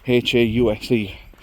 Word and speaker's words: Hause: It's H-A-U-S-E. I don't think it's house. I think it's Hause.